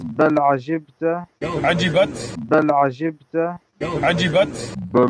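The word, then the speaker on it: عجبت: With a ta at the end, it's Ajibta, not whatever the Sheikh was saying. Ajibat.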